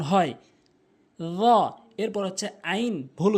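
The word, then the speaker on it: عين: আইনের জায়গায় হামজা এনে উচ্চারণ করা যাবে না। আইন উচ্চারণ করতে হবে।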